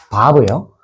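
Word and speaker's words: ו: 바브예요. 이렇게 쓰는 거 보여 줄게요. 자, 보세요. 자, 요렇게 좀 왔다가 쭉 내려와요. 맞나요? 이게 뭐라고요? 바브. 그래서 바프라고도 하기 하는데 보통 발음은 바브라고 하고 숫자값은 몇일까요?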